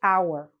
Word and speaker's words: hour: say the hotel but sometimes h which is a consonant is silent and so it actually sounds like a vowel so then we say the hour ok on the hour for